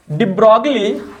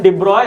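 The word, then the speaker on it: de Broglie: Next question है डिब्रॉगली, actually में इसका प्रोनाउंसिएशन डिब्रॉय है।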